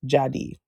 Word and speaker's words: Dziady: how it's pronounced, but it's spelled Dziady, but it's Jadi is how it's pronounced.